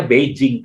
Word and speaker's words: Beijing: Kita bacanya Beijing pasti, tapi orang yang ngerti pelafalan, mereka akan menyebutnya Beijing.